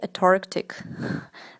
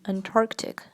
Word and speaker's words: Antarctic: next word is Antarctic Antarctic many people say Antarctic they for some reason they missed the N but the N here it is not silent so you should pronounce it and the correct pronunciation here would be Antarctic Antarctic for example I've seen some really